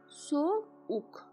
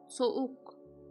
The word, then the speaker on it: soğuk: The 4th case is when we stress on the 2 sounds. Like here, we consider that yumuşak does not exist. How do you spell it? Remove it. It will become this word. Soğuk. Soğuk. Soğuk.